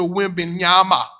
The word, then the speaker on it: Wembanyama: Old Victor Wembanyama.